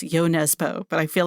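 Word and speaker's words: Jo Nesbø: The Thirst and I understand from the publisher Koff that it's yo Nesbo but I feel like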